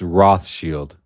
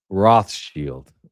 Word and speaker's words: Rothschild: Rothschild, okay? For all the Americans and all the others, it's Rothschild, like a shield. Protect yourself. Rothschild.